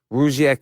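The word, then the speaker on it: Rugiet: And Rougiette is spelled R-U-G, like rug, and I-E-T.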